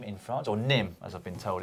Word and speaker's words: Nîmes: The Vuelta España kicked off on Saturday with a team time trial around Nîmes in France, or Nîmes, as I've been told it's pronounced in the comments section.